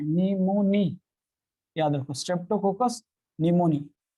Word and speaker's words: pneumoniae: निमोनी, याद रखो, Streptococcus निमोनी। यार P silent, P silent, Streptococcus निमोनी, याद रखो, ये आगे चल के सिलेबस में।